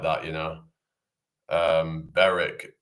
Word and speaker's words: Berwick: that you know um Beric instead of Berwick Berwick on Tweed Helen M. So yeah um I don't know why they just you know that why the W is silent.